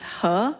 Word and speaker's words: He: hello everyone my name is her it's spelled as h e and that's it yes